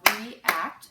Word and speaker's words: react: We have react, so it's two syllables. The first syllable is E, second syllable is act.